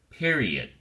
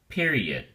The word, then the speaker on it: period: the academic word period has three syllables and the emphasis or stress is on the first syllable Pierre Pierre don't say pair say Pierre period period make sure you pronounce